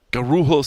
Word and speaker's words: Guarulhos: gun room host not you should not supposed to roll your R's in Portuguese I apologize Guarulhos Airport something like that